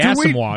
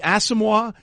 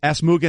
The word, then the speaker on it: Asomugha: And it's Nnamdi Asomugha. He pronounced it Asmuga Nnamdi. So See, not only did he butcher both words, he transposed them.